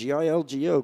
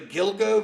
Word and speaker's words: Gilgo: Uh the alleged Gilgo. Gilgo. Is that how it's pronounced? G I L G O. Gilgo.